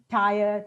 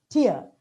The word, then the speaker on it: tier: go B but bathe tier t e r tier we talk about uh three Tire two Tire it's actually tier but you know mind